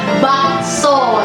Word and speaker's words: bakso: Dari eh penyebutan aja harusnya dalam bahasa Hokian itu ee tulisannya itu memang tulisannya ba sepasti so. Jadi, tapi dibacanya dalam penyebutannya itu ba so itu hokiannya. Tapi orang Indonesia menggabungkan itu semua. Jadinya namanya bakso seperti itu.